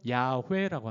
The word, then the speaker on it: 야훼: 히브리어 자음만 있어요. YHVH라는 자음만 있어요. 그걸 모음으로 중간중간 넣어가지고 발음할 수 있게끔 야훼라고 하는 거예요. 야훼.